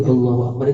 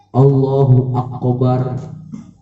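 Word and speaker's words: الله أكبر: Kaf dibacanya qaf. Allahu akbar, ya nggak boleh. Ya, Allahu Akbar. Kaf nggak ada kolkolahnya, karena kaf bukan huruf kolkolah.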